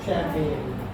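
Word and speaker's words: champagne: इसमें भी CHAMP है और इसमें भी शुरुआत में CHAMP है, लेकिन इसको हम पढ़ रहे हैं शैम्पेन।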